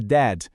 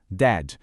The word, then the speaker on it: dad: É que a gente precisa dar uma atenção especial para aquele som forte do D bem no final da palavra dad.